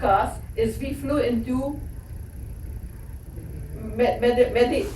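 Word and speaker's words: Medellín: is we flew into Medellin. So somebody tell you this pronunciation changes. You can call it Medellin, like a bad pair of jeans. Medellin. Medellin is Spanish. Spanish. Medellin is Colombian.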